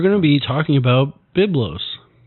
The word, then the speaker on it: Byblos: I I I keep wanting to call it Biblios. I that's why I want to keep quiet. But it's Biblo.